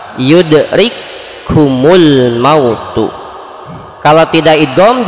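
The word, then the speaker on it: يدرككم الموت: Dua huruf di sini kafnya menjadi satu huruf, sedangkan huruf yang kedua menjadi bertasydid. Jadi ketika dibacanya itu seolah-olah bertasydid. Yudrikumul mautu.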